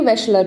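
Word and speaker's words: Wechsler: अब आता है वेशलर, इसको कैसे प्रोनाउंस करेंगे, वेशलर, ठीक है।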